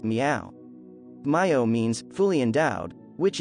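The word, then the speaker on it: 妙: The character Myo is rendered in Sanskrit by the word sad, and in Chinese is pronounced miao.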